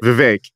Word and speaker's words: Vivek: like the Vivek is there's two ways to say his name, that and one is the right one, one is the wrong one, and you just came with a third, Vivek. Holy it's wow. V-I-V-E-K, right? Vivek is the way you say it.